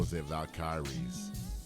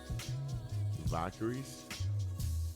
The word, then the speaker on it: Valkyries: got to play the go valaris if I'm if I'm even pronouncing that right Valkyries Valkyries okay Valkyries okay wow it's so